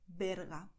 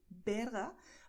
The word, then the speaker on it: Berga: a village in Spain, Berga. But the same word written with the letter V is a very offensive word that you shouldn't say. It's pronounced exactly the same way, Berga, but it's not a